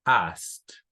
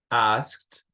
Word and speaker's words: asked: Okay, now, este verbo, por ejemplo, lo pronunciamos asked, asked.